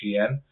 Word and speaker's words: Shein: Shein, the Chinese discounter, I think that's how you say it. I have heard people say it different ways, but I think it is Shein, is filing for a U.S.